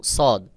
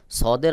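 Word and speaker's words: صاد: রয়েছে সদ সিন এবং সদ সদের আওয়াজ গোল মতো করে উচ্চারণ হবে যেমন দেখুন সদ সদ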